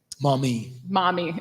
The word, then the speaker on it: Maumee: There's a lot of ag runoff coming from the Maumee Basin in Ohio that I'm sure I just mispronounced. Maumee.